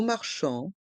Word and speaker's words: marchand: de poisson un poissonnier le mot marchand le a et le N font le son en et le D est mué dans le mot poisson